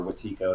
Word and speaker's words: Wetiko: who writes extensively about wetico or watiko it depends you know it's different cultures pronounce it in different ways okay uh so yeah